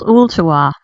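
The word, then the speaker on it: Ooltewah: name of your town in Tennessee it's called Ulta all right just for fun spell it because I want people to try to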